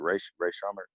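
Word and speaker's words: Rae Sremmurd: Is it Ray Shrummer? Oh, yeah, that's right.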